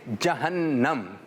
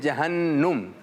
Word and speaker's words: جہنم: درست تلفظ ہے جہنم. کچھ لوگ کہہ رہے ہوتے ہیں جہنم, تو یہ غلط ہو گیا.